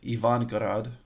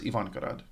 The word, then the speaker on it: Ivangorod: Petersburg to the Russian city of Ivangorod, which I'm half guessing on the pronunciation of because I only saw it in writing, but it's either okay. I'm pretty sure it's Ivangorod. Okay, the bus ride takes 2.5 hours.